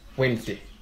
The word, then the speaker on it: Wednesday: Bro, I mean, Wednesday. It's supposed to be spelled Wen and Day.